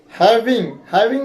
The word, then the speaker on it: having: is you have been having में ये लोग जी को नहीं बोलते हैं, having एन का उच्चारण करके ही छोड़ देते हैं।